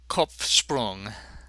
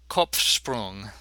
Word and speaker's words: Kopfsprung: In the word Kopf, both the P and the F are pronounced. I told you every letter counts, and the P seems to interfere somewhat with the sh sound following it.